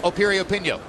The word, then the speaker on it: Piriyapinyo: Once again, the name begins with a P, but it's pronounced Piriyapinyo. Go figure.